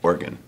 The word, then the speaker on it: Oregon: about that I know people from Oregon call it organ but I like all three syllables origon the influenza season has